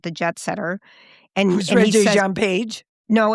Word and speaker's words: Regé-Jean Page: You, Me, and Tuscany with Regine Paul, or how do we say his name? Regé-Jean Page.